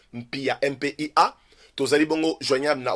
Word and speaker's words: Mpia: Nchoué s'écrit N-S-H-U-E. N-S-H-U-E. Nchoué Mpia.